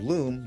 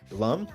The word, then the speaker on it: Lum: with a race of aliens their princess named Loom they're called the only Lum that's how it's pronounced yeah it's Lum it's Lum my bad